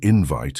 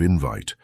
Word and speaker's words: invite: For example, we correctly say that a word is mispronounced when invite is accentuated instead of invite.